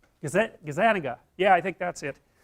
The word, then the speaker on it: Gazzaniga: Gazzaniga. That's wrong. Gazzaniga.